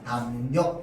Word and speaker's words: 담력: 그러면 앞말의 받침이 뒤에 나오는 리을에게 영향을 줘서 리을을 뭘로 바꾸느냐? 니은으로 바꿔서 발음하게 합니다. 앞말의 받침이 있죠. 뒤에 리을에게 영향을 줘서 어떻게 바뀌느냐? 담력 이렇게 발음합니다.